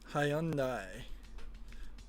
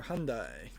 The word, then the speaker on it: Hyundai: ratios in its class hyai or Hyundai depending on where you live or how you want to pronounce it in 2009 Marcus grham